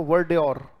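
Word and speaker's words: verdure: करो, बोलो वर्ड और, ये उच्चारण है, ये है वर, ये है ड्योर, और अप्लाई किया करो, राइट। जो भी नया वर्ड सीखा उसे सोचा करो, बोलो वर्ड्योर।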